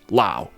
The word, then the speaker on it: Laos: the Lao language however does not pronounce the S so it is pronounced Lao for the purposes of